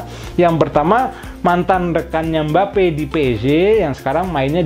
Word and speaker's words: Mbappé: aksong Teh gitu video lezat song sudah bahagia mbappe tuh seperti itu Oke sekarang kita masuk ke